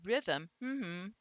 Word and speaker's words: rhythm: And if I say I've got rhythm, hmm, hmm, hmm, hmm, you can feel the pulse, and rhythm, is two pulses. So it's truly two syllables.